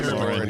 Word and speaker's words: McLaurin: Terry McLaurin? Terry McLaurin, yeah.